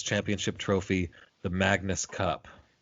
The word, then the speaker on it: Magnus: Renamed in 2004 to take the name of its championship trophy, the Magnus Cup. How do you say Magnus in French? Magnu. Isn't it? Yeah, that's all right. Sure.